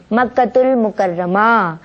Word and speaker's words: مکۃ المکرمہ: بہت ضروری ہے کہ صحیح تلفظ بھی ادا ہو. ٹھیک ہے. مکۃ المکرمہ رضی اللہ تعالی عنہ، قبیلہ شریف نہیں، قبیلہ قریش.